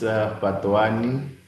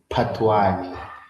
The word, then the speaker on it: Fhatuwani: It's Often people say Patwani. It's like Patwani. It's like you almost need to be blowing air. Patwani.